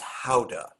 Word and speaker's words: Gouda: I said, I believe it's pronounced Howda. It's, yeah. We can't actually pronounce it right now because you have to spit on the person in front of you to say it correctly.